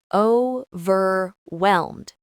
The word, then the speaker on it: overwhelmed: Overwhelmed. The stress is on the second syllable.